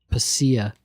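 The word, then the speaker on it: Pasilla: Um the double L in Spanish is a Y sound.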